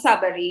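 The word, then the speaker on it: Tsabary: Yes, it's Dr. Shefali Sabari, yes. Sabari. Okay, T is silent.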